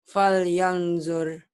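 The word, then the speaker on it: فَلْيَنْظُرْ: Fal yandur. Fal yanzur. Baca. Fal yanzur. Salah itu harusnya. Fal yanzur. Kenapa? Karena nun mati bertemu zo.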